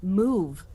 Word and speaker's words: mauve: It's it's spelled like what? It's spelled mauve, but it's- it's actually move. I believe is actually the correct.